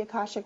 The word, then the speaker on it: akashic: to those who have never heard of the akashic records first of all am I saying it